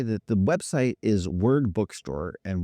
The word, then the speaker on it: Wyrd: that the website is word bookstore and word is not spelled like most people will hear it is w yr d is that a gay